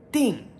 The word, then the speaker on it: 叮: So first tone ding.